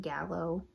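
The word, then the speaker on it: giallo: Like, this is for before like Yallo became a thing in Italy. People also pronounce it Gallo or Jallies. You might know them as Jallies.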